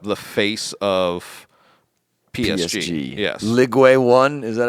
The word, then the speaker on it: Ligue 1: Ligue 1, is that how you say it? Ligue 1?